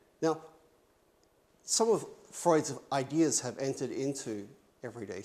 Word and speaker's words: Freud: times yeah sigmund sigmund freud is freud is how you say his name right and sigmund freud is